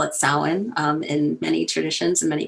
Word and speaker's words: Samhain: traditions so if you see that weird word s-a-m-h-a-i-n or some other interesting gaelic version where it's got a bunch of extra verbs and vowels and syllables attached to it samhain um that holiday asks